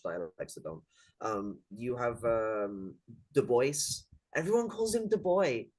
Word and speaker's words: Du Bois: called himself Du Bois. Yeah, that's his name. It's to pronounce Mhm. Du Bois.